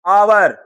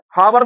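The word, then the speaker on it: hour: आवर। हावर नहीं बोलते हैं आवर। समझ में आ रही बात? तो यहां पर एच साइलेंट जा रहा है।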